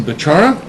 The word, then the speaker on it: Bechara: My guest for this segment is Susan Bechara.